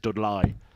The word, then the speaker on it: Dudley: richer than me or as they pronounce it D Li 73 well 66 was